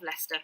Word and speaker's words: Leicester: chat as well because leicester is is not pronounced how it's spelt which is the joy of british place names they are so often not pronounced how they're spelled um also university of leicester not in leicester um